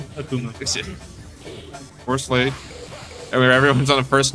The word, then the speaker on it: Akumu: Or, how do you pronounce it? Akumu. Akumu.